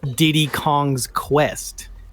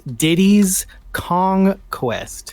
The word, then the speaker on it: Diddy's Kong Quest: learned the correct name it is not Diddy Kong's Quest it's Diddy's Kong Quest commonness I still have